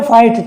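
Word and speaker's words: fight: अब आप इसको जी को पढ़ते रहो, गए या गा कुछ भी पढ़ते रहो, ये भाई गलत हो जाएगा। इसे बोलते हैं फाइट, ठीक है।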